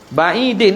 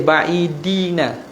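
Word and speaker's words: بعيدٍ: Ba'idin tak? Ba'idin. Bihaitsu la yunsabu ilaiha urfan. Dia ada salah ejaan ni kalau hak buku ni. Dia tulis ba'idina, bukan ba'idina, ba'idin. Tak? Ba'idin, bukan ba'idina tak?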